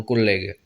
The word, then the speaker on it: collègue: En français, vous l'avez dans collègue, avec les deux L qui se prononcent vraiment collègue.